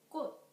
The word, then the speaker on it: 꽃: The fifth one is 치옷. For example, 꽃, 꽃. The final consonant of 꽃 is 치옷.